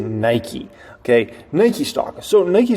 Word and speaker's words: Nike: It rhymes with pikey. It is Nike.